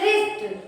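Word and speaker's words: wrist: Silent है एल एल इसी तरह इसको बोलते हैं रिस्ट रिस्ट आ रिस्ट इसकी स्पेलिंग तो आर आई एस टी होना चाहिए था। लेकिन इसमें डब्ल्यू से शुरू हुई है ना रिस्ट की spelling? W आर आई एस टी। तो अब इसमें साइलेंट क्या हुआ? डब्लू डब्ल्यू साइलेंट हुआ।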